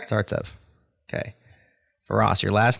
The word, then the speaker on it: Startsev: next week and your last name startsev startsev correct startsev okay FAS your last name no I'm not